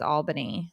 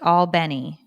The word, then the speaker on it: Albany: Oh, somebody's like, you pronounce it Albany, not Albany.